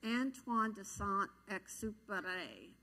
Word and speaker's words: Antoine de Saint-Exupéry: Antoine de Saint-Exupéry.